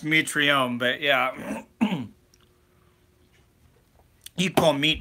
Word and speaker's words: Mitrione: goddamn not touts tonight is it meat Ron or meat reown yeah I believe it's pronounced meat Reaume but yeah keep all